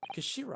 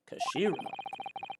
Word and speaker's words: Kashira: It's written the head of Japan in Japanese, but it's pronounced Kashiri. Kashira, I believe. Kashira.